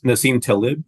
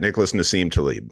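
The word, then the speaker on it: Nassim Taleb: uh by uh I don't know if I'm pronouncing his name correctly but Nim Talib you got it Nicholas Nim Talib yep or yes sir and um I was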